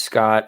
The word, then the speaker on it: Scott: My name is Scott. I am the son of Generation Red Papa Bear. And you can follow me on Twitter at ScottGenRedPod. That is Scott with 2 T's. The second T is silent.